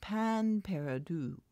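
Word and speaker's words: pain perdu: a final use before throwing it away huh pain Peru and it's pronounced pan Peru I think it literally means lost bread and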